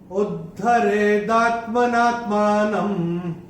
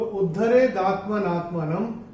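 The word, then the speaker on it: उद्धरेदात्मनात्मानम्: में आ रहा है, न के ऊपर अनुस्वार चरण की समाप्ति पे आ रहा है, इसलिए इसका उच्चारण केवल और केवल म ही होगा।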